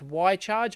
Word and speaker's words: Wi-Charge: Same thing that Y-Charge, yes it is pronounced Y-Charge, I have been reliably informed by the company, and it also works.